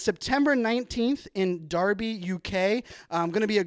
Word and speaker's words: Derby: be in Darby UK I was pronouncing it Derby but I was corrected early this morning it is Darby I'll be in Darby